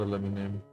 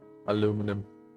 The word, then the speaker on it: aluminum: guys look nice and aluminium no not aluminium aluminum I need to really